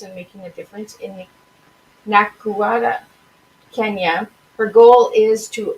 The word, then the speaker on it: Nakuru: So how do you pronounce the Nakuru? Nakuru, Kenya. Nakuru, Kenya.